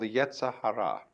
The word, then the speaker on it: Yetzer Hara: In Jewish theology, this is called the Yetzer Hara, Y-E-Z-E-R-H-A-R-A, the Yetzer Hara, the element of irreducible rascality, which was created by God, because God has one too.